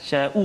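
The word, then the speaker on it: يشاء: Tak ada hamzah. Tu bahaya. Itu tak. Jadi tak sempurnalah kalimah tu. Sya tu sya, kan? Sya'u tu.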